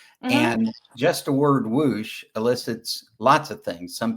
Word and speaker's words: WOOSH: And is is the pronunciation correct? It's like whoosh.